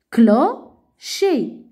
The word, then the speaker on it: clocher: Fais attention, C avec H se prononce ch.